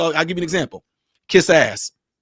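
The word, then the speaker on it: quizás: give you an example kiss ass right kiss ass that means perhaps in Spanish it's literally how you say it kiss ass now what I'm saying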